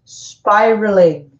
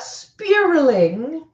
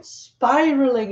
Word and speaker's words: spiraling: and a migration crisis dividing families voiceover it's pronounced spiraling a spiraling inflation not spilling that spilling inflation spiraling inflation voiceover just so we're clear voiceover it